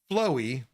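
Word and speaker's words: FLOVVE: And last up, we're going to talk about Flowy E 3D printer / injection molding. So it is FLOVV-E, but it is pronounced Flow. It's a little thing there with the V's making a W.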